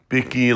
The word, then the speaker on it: Bicky: This one is from, is it Bicky A? Thanks for reading my comment, Jack. My name is pronounced Bicky like Mickey.